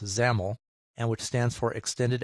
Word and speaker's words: XAML: It also uses XAML, which is pronounced XAML, and which stands for Extended Application Markup Language.